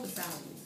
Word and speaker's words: Versailles: languages are concerned, you don't know how to pronounce those words. But it's called Versailles.